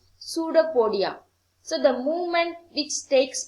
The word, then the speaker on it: pseudopodia: its false feet called pseudopodia here p is silent it must be pronounced as pseudopodia notopodia okay and then